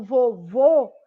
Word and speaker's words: vovô: E quando eu falo vovô, eu fecho a minha boca para pronunciar.